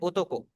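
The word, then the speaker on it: 男: ओ की आवाज जैसे इंग्लिश में होती है वैसे ही आपकी जैपनीज़ में है। जैसे बोट के अंदर ओ बोला जा रहा है। बिल्कुल वैसे ही हम इसे प्रोनाउंस करेंगे।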